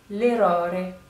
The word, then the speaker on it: errore: Donc l'erreur, ça se dit l'errore. L'errore. Pour insister un peu plus sur les deux premiers R, puisqu'on a doppia R, on a double R, donc forcément il faut